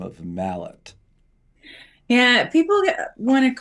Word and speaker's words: Mallett: how do you say your last name it's Mallet Mallett Mallett so our last name is Valentine I'm sure you haven't gotten any grief over the years about having the last name of Mallet yeah people want to call it uh Millet